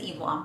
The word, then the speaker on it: Eve Lom: I think it's Eve Lom.